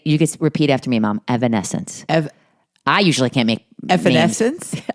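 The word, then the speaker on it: Evanescence: Evanence. I usually can't make eancence. I usually can't pronounce names.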